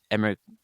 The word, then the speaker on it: Emre: You can uh message me through emir c a g l a r or um through my LinkedIn um emmer if you write my name emer should pop up and we will be more than happy to connect with you.